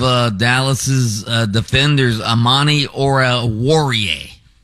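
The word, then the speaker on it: Amani Oruwariye: and one of uh Dallas's uh Defenders Amani Ora warier Ora warier that's how you say it so he tried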